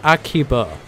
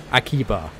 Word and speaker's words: Akiba: So it's Akiba. Akiba.